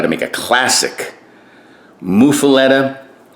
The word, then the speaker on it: muffuletta: to make a classic mufaleta people pronounce it muffalata you say potato i